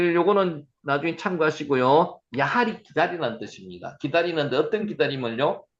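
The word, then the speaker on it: יחל: 야할. 야할 한번 해보세요. 야할. 기다리다. 야할. 예, 기다리다. 자, 여러분이 지금 이 발음을 하는 거는 제가 지금 녹화트가 보내드릴 거거든요.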